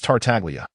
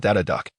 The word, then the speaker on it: Tartaglia: And by the way, my name is Tartaglia, not Dada Duck.